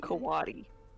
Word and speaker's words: coati: Coati. C-O-A-T-I. Pronounced kawadi.